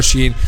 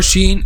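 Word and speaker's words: شين: so the middle part how we use the middle part to pronounce letter sheen the middle part touches what lie is opposite which is the middle of the roof of the mouth okay so the middle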